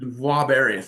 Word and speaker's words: Voir-Barry: Because Well, if you grew up in Mississippi or Louisiana, you understand it'd be Voir. Voir-Barry, French Canadian.